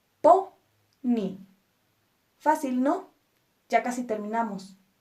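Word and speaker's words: póney: a las palabras agudas un ejemplo Pony Pony dos sílabas po Ni esta palabra termina en y y nuestra sílaba tónica es po por lo tanto acentuamos po ni fácil No ya casi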